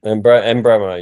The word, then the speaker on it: Mbeumo: Mbeumo, yeah, that's how you say it.